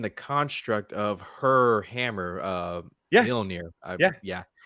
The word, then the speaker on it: Mjolnir: And that makes so much sense given the construct of her hammer, Mjolnir.